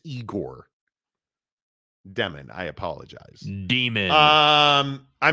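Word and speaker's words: Egor Demin: so I think oh did I get his name wrong it's it's eigor demon I apologize demon um I mean that's a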